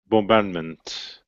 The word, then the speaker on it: bombardment: good and thumb good bombardment right so is the be silent in bombardment yes or no nope bow bow it's not yeah place that one down six To Go mr.